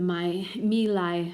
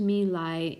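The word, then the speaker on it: My Lai: then the exposure the my meal i massacre so it's pronounced to me lie and there's a picture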